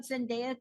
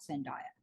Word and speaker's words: Zendaya: I have talked about Zendaya too since the very first day I mispronounced her name and sent Zendaya she is not sin diet Zendaya uh Beyonce Keanu Reeves